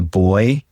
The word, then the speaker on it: buoy: There's been a few, buoy rather than, so we would call a buoy a boy.